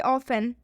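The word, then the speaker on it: often: एक और एग्जांपल देखिए ऑफेन ऑफेन में भी टी के बाद से ई एन आया है लास्ट में ऑफ एन में टी इ एन आया है तो इसलिए इसमें टी का उच्चारण नहीं होगा यहां पर लिखा हुआ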